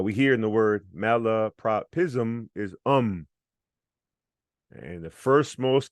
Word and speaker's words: malapropism: Now we're going to loop and say a, u, r, a, I, z, So chunks, zum, pism, propism, lapropism, malapropism.